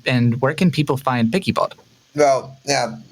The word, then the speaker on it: PiccyBot: picky bot well yeah pigy Bots if you if you spell it right that's because everybody's been calling it pixie Bots for some reason because the well the voice over happen to call it like that but uh if